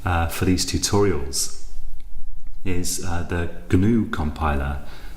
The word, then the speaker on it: GNU: The compiler that I'm going to be using for these tutorials is the GNU compiler. The G is actually pronounced in GNU, I believe.